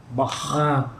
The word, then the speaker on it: Bach: Johann Sebastian Bach. Bach. Bach. Ini sama khusus.